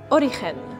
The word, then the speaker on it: Origen: Origen, je le prononce comme il faut? Oui, parfait.